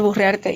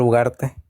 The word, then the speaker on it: Ugarte: Pero bueno, aquí el magíster puede educarlo al señor Burriarte. Y si él no quiere que yo le diga así, entonces que pronuncie bien el apellido. No, no, no, no, Ugarte.